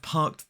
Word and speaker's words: parked: Number 1, I've parked the car. Notice that we don't pronounce the R in parked or in car in this sentence, and also the has that schwa in it, so it's the.